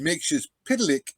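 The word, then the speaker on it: Mxyzptlk: uh I'll mix this makes you spit lick is how it was pronounced back in the Golden Age and mixes pitlick is how it's pronounced in the modern age in Bronze Age when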